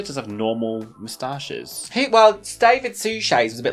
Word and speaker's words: Suchet: David Suchet's was a bit like that. RuPaul once had to do an advert on that podcast, and David Suchet starred in something, and RuPaul pronounced his name David Suckett.